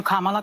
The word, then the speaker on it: Kamala: Let's, Kamala, and I'm calling you Kamala because for all of those who are mispronouncing it, I want you all to know how to say it.